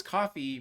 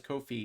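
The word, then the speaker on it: Ko-fi: yeah but apparently it's kofi because it rhymes with no fee and that's like their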